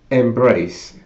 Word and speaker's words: MBRACE: it is uh Embrace that's like Embrace but with without an e and with two RS as in you know on the it well I'm I'll spell it out MB r a c e anyway I I I'll